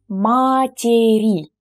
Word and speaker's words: матери: The word мать, mother, becomes матери. So here we have an additional syllable.